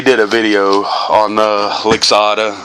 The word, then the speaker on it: Lixada: Oh man, so we did a video on the Lixada. I hope that's how you pronounce it. It's L-I-X-A-D-A, Lixada.